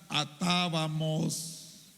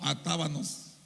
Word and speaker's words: atábamos: Atábamos, no atábanos, como muchos dicen. No pronuncian la M sino la N.